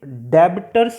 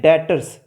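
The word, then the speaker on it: debtors: ये डेबिटर्स नहीं होता, बी साइलेंट होता है। इसको हम कैसे रीड करते हैं? डेटर्स।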